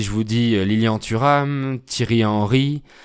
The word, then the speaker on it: Thierry Henry: Si je vous dis Lilian Thuram, Thierry Henry, à prononcer à l'anglaise Thierry Henry, Gaël Monfils, le joueur de tennis, Michel Houellebecq, l'écrivain, mais aussi le chanteur français décédé, Henri Salvador.